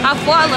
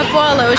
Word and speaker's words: Afualo: Afualo. Afualo.